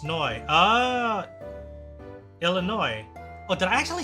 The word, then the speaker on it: Illinois: huh but I'm yeah I am aware that it's a silent like uh what do you call that that the S is silent but maybe I don't